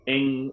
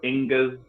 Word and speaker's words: Ingwaz: It can be said as Ing or Ingas or Ingwaz. So different people pronounce ones differently, and that's okay. Nobody's wrong.